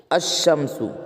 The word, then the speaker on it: الشمس: نہیں ہوتا ہے نا، لام کا تلفظ نہیں ہوتا اور لام کے بعد کا حرف مشدد ہوتا ہے، یعنی تشدید والا ہوتا ہے۔ جیسے دیکھیں الشمسو، الشمسو ہے، دیکھیے کیا حروف شمسی